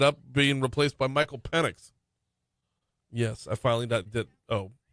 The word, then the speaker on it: Penix: drums he ended up being replaced by Michael penx yes I finally did oh I don't think I've done that on the show his his last name is penx but it's spelled penix p n iix and I I